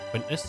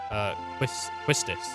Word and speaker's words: Quistis: Quistis. Quistis? I don't know. I've never known how to say it. I've always Quintus, but like, there's no N there, is there? Quistis.